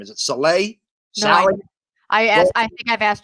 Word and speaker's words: Saleh: How do you pronounce his last name? Is it Saleh? No, I think I've asked Joe that question 15 times. Saleh.